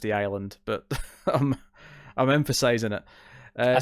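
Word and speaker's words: The I-Land: I imagine it's probably just pronounced The Island, but I'm emphasizing it.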